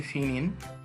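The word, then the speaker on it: Pinyin: Chinese ম্যান্দারিন ভাষার দুটি part রয়েছে, একটি হচ্ছে ফিনিন, অপরটি হচ্ছে হানজি। পকে ওরা সাধারণত ফ উচ্চারণ করে থাকে, এই জন্য এটাকে ফিনিন বলা হয়।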